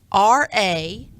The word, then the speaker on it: taradiddle: It's TARADIDDLE.